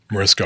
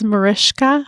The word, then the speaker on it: Mariska: time to prep and I still Mariska Harate. That's right. It is Marishka.